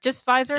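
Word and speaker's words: Pfizer: I got um was it P Fiser? Is that how it's pronounced? Fizer. Fiser. Just Fiser. Yeah, just Fiser.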